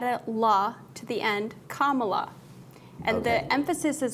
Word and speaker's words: Kamala: You put and then you just add a la to the end, Kamala.